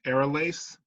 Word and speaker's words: Aralace: And Hendelace is actually the sister of the girl that founded Downrill, the woman, and her name is Aralace. It's spelled ARRALACE.